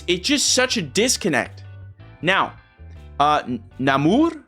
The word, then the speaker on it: Namor: Now, Namor is how they pronounce it over there in the movie.